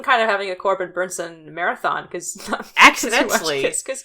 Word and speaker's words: Bernsen: Corbin Bernsen, I think, is correct? Bernsen. Oh my god, I'm so sorry. I always think there's a T in there, and there's not.